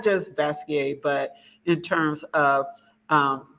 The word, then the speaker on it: Basquiat: a form of French you don't pronounce the T you know or the end so a lot of people say basket but is is basquier different pronunciation thank you